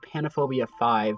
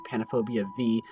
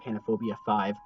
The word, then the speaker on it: PANOPHOBIA V: for my 2018 haunted house, PANOPHOBIA 5, which is actually how you pronounce it. I don't know if you guys thought it was PANOPHOBIA V, but it is Roman numeral for 5, so it is, yeah, it's called PANOPHOBIA 5.